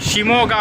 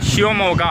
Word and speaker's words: Shivamogga: பேச்சு வழக்கில் சொன்னோம்னா ஷிமோகா அப்படின்னு சொல்லுவாங்க, பட் கரெக்டாக ஸ்பெல் பண்ணி ப்ரொனவுன்ஸ் பண்ணோம்னா ஷிவமோகா அப்படின்னு வரும்.